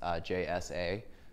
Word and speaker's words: Jsa: That's how you pronounce J-S-A. It's Jsa. There that is.